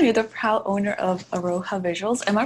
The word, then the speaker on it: Aroha: Aroha. No, I did not pronounce it properly. It's a Maori word, and I really love it because it means love in the Maori language, and it's a bit